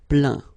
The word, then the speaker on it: plaint: Okay, and as usual, final T here is not pronounced, so you get craint, contraint, plaint.